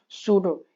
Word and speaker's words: pseudo: अब इसका मैं एग्जांपल बताऊंगा, पी साइलेंट होता है बच्चों, मैं बार बार बोल रहा हूँ, सूडो, यस ई यू डी ओ, सूडो vector हो गया, ठीक है।